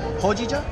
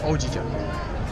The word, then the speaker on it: hojicha: Hojicha or ojicha? H-O. Ho? Hojicha. Hojicha. Hojicha.